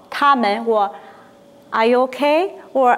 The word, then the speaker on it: 他: 他. 他. Say he. 他. We want to become they are 他们他们他们好吗? In Chinese, this also called ta.